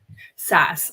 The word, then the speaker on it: SaaS: world of Enterprise saas how do you say that Grace S software as a service yeah SAS I knew that I